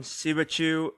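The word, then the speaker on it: Siebatcheu: Christian Pulisic, Chelsea, Gio Reyna, Dortmund, Josh Sargent, Brendan Aronson, Timothy Weah, and lastly, I believe Jordan Sibachu. I believe you pronounce his last name like you would Pikachu.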